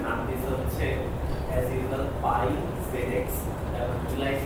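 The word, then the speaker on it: PyZX: দিছে হচ্ছে age usual পাই zx হচ্ছে ফিজিক্সের মত বাট এইচটা নাম হ্যাঁ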